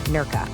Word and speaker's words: Nerja: That's pronounced Nerka, by the way.